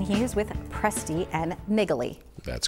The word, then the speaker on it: Naegeli: With us now is Andy Presti, and he is with Presti and Naegeli. That's correct. You pronounced it correctly.